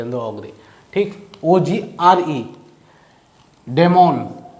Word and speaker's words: daimon: अंदर ऑग्रे, ठीक, OGRE, डेमोन। दोनों के प्रोनाउंसिएशन सेम रहेगा, स्पेलिंग में डिफरेंस है, यहाँ DAIMON है, यहाँ DEMON है, ठीक।